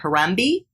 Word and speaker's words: Harambee: MB and I don't know if I'm gonna pronounce this correctly Harambee yes which means let's pull together in Swahili